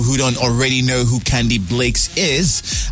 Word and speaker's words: Candybleakz: for those people who don't already know who candy Blakes is how am I pronouncing it right it's Blake's right yeah okay